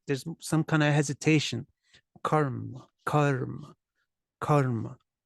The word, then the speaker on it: karma: for it karma karma so the first syllable is long because it requires preparation for the two consonants Karma it's just like yoga was yo Yoga Yoga karma is karma karma is karma karma the a stays the short sound but